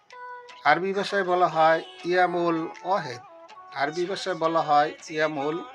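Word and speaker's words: واحد: 1, আরবিতে উচ্চারণ হবে ওয়াহেদ।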